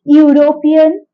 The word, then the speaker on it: European: uh we say a European a EU Etc because here e makes a consonant sound U okay European U like this okay but if uh